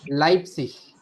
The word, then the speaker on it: Leipzig: लाइप्सिश, लाइप्सिश। Leipzig. Leipzig. ठीक है, ई आई याद रखना है, लाइप्सिश, लाइप्सिश, लाइप्सिश सिटी का नेम हो गया।